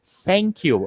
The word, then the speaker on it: thank you: O que a gente tem é uma tática, é como se a gente levasse a nossa língua no meio dos dentes ali, o céu da boca, e a gente pronunciasse aquela palavra dessa forma. Então é um movimento mecânico que a gente tem que treinar para falar thank you, é literalmente esse movimento.